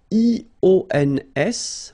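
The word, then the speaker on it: -ions: So now let's see nous, and nous goes like I-O-N-S, okay, and it should be pronounced ion. Remember, final S is not pronounced.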